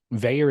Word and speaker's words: Vaer: Veyer is spelled Vaer, and we will save you 15% with promo code Splendor15.